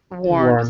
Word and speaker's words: warned: the government has warned warned so this e is silent right here okay and uh Anna